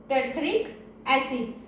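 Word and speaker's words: terephthalic acid: First is ethylene glycol and second is टेरिथेलिक एसिड। टी से pronunciation करेंगे, इसमें पी का प्रोनाउंसिएशन हम लोग नहीं करेंगे। ठीक है, इतना क्लियर हुआ।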